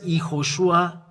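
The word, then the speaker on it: יהושע: When vav, there is dot on the top. It's O, Iho, because we have repeated the way to pronounce in Bamid, in the Sefer Torah, Bamidbar, YAHOSHUA. When there is those three dots, it means this is sh and u. It means u.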